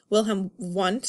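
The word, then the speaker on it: Wilhelm Wundt: especially in the 1800s we had someone named will him want is how you say a German scientist he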